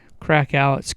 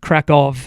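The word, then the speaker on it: Kraków: People said, "Well, if you like crackouts, Kov is actually how it should be pronounced."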